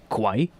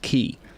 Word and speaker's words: quay: i figured out ah it's just pronounced key basically like a key that you put in in a lock but you just write